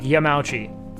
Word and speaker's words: Yamauchi: Like Yamauchi would be like Yamauchi, essentially, like Fauci. You know? So like it's interesting seeing like the division there, that you like create distinction between the vowels as like two separate syllables rather than one.